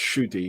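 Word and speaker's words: Ncuti: all right uh yeah apparently the english silence pronounced shooty yeah should shoot okay i i like i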